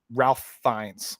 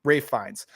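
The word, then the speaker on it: Ralph Fiennes: Everybody was, but my for me the standout person was was Ra Ralph Ralph Fines, believe it's how you say his name. Rafe Fines.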